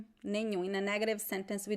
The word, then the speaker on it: nenhum: Nenhum. Okay, I got it. I'm going to write here in the comments. Nenhum. Nenhum. nenhum, nenhum. It's a nasal sound at the end.